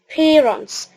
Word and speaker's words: parents: خلي بالك البي هنطلع فيها هوا عشان النطق يطلع سليم كده ومظبوط. فنقول parents، وهنا طبعا قلنا التي ما نوضحش نطقها.